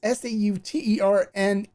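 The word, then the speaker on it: Sauternes: It's S-A-U-T-E-R-N-E-S, but it's pronounced Sauterne.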